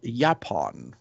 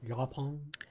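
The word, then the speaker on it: yaupon: And it's called Yapon. At least I think it's how it's pronounced. It's Y-A-U-P-O-N. Yapon.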